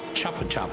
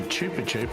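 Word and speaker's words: Chupa Chups: on your sponsor it's not and most people pronounce it Chapa chap it's not it's actually Chupa chup and it actually is um Spanish for sucky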